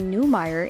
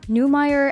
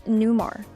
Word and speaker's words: Newmeyer: One interesting consequence of her involvement in the movie was the realization that people frequently mispronounce her birth name, Newmeyer, as Newmar.